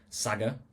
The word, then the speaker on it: Saggar: So, I've been building Saga. That's how it's pronounced.